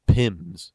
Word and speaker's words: PIM: You might hear somebody refer to something called PIMS. And what PIMS means is just the way we pronounce P-I-M, which is an abbreviation for penalties in minutes.